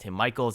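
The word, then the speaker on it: Tim Michels: I mean, this would be a major win for the Democratic Party when he runs against Tim Michaels. I've been told that is the pronunciation.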